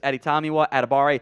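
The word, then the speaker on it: Adetomiwa Adebawore: here at Abare uh the W will will confuse you it's not supposed to be pronounced in that it's just editamiwa atabare he does go by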